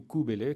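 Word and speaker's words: Cybèle: Kabbale différents au Grecs qui Bellay ou kubélé comme on devrait prononcer c'est-à-dire la nature elle-même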